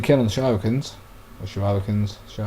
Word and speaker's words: shuriken: 1% kill on the Shurikens. Or Shurikens. I called them Shurikens when I was a little kid and it's stuck like that in my head, but I believe it's pronounced Shuriken.